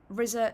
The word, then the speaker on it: RZA: You said Rizza. That's how it's pronounced. Thank you. Uh Keith has said it's a good level volumewise. Brilliant. Flatpocket music said Rizza and Jizer are pronounced Rizza and Jizer.